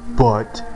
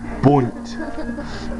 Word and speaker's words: bundt: It is not butt. It is bunt. Bunt. No, not hunt. Bunt.